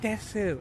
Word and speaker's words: です: You gotta say like "desu," like that's Okay, what you have to do. the U Desu. has to be pronounced.